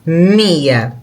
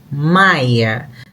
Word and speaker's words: Mya: s why Maya Jesus the name is actually not Maya is MIA but englishspeaking people because they pronounce the Y the Ipson in Portuguese as why they pronounce it Maya that's why the name